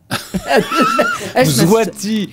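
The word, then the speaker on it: Mswati: Swabi, je sais pas bien prononcer. M. Swabi. Zwati, voilà, Zwati 3.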